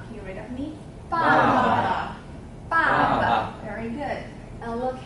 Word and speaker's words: 爸爸: Okay, and the bottom part, when it stand alone, it means, it's pronounced as ba, so it suggests sound. Suggests sound, suggests meaning, okay? Baba, can you read of me? Baba.